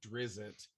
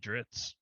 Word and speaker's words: Drizzt: I always said Drizzit, and that was so wrong. Drizzit too. I always says Drizzit too. I always said Dritz.